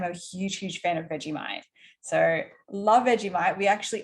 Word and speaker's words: Vegemite: so a follow-up question what are veggie mates and did i say it correctly veggie bite but vegemite yeah it's like um